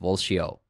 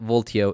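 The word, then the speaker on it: Valtio: new react State Library called walshio yep it's pronounced volcio but voltio is fine as well you're gonna see really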